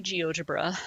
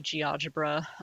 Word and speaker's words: GeoGebra: any version um and I say geogebra some people say GE algebra um I think that actually the um the company actually recently did like a social media like how do you pronounce and you know and then apparently there's a lot of different ways to say it and they are all acceptable so uh I don't